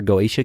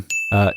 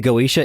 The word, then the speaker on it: Goetia: Don't say goatsy. I will not. The Goetia is a practice that includes the conjuration of demons.